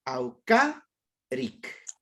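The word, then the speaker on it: awkarik: Entonces, el 95% de las palabras en quichua son palabras graves. Llevan el acento en la penúltima sílaba.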